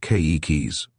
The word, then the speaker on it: keiki: "How many times do I have to tell you that every letter in a Hawaiian word is pronounced? Here's how you say children in Hawaiian, keikis, with the accent on the first syllable.